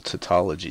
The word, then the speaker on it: tautology: stopped loving it it's a little tautology there did I pronounce that right cytology Dumbledore let me know if I didn't chandi says yes I have divine Chandi